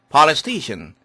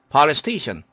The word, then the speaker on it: police station: 그러나 스 다음에 스테이션 할 때 스 서로 발음이 똑같기 때문에 한 번만 발음되는 경향이 있습니다. police station, police station.